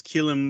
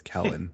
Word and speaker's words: Kellen: I will say is Keelan Moore, this is your time to fucking shine. So. Well, he would be mad that you got his name wrong. It's Kellen, but Keelan, close enough.